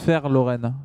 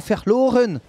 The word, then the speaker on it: Verloren: Apparemment, ça se prononce Verloren, comme un F. D'accord. Très bien. Fair play. Ça veut dire perdre en allemand. Ah, Verloren.